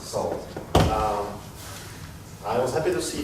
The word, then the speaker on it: NaCl: NaCl pronounced salt.